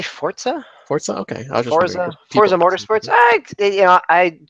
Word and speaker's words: Forza: We do have Forza, like you said, or Forza. Yep. Yeah, how do you say that? How do you say it? Forza or Forza? I say Forza.